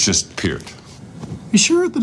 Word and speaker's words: Peart: Parrot's sandwich. It's just Peart.